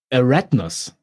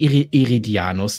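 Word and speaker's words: Eridanus: Eratnus. Okay. Die sagen nicht Eridianus dazu. Die sagen Eratnus.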